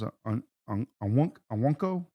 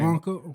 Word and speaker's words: Okonkwo: And your top receiver was Onwunko. I don't know how to pronounce that name. Okonkwo.